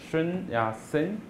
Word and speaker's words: Sun Yat-sen: Sun Yat-sen. It's Cantonese. The pronunciation is Cantonese.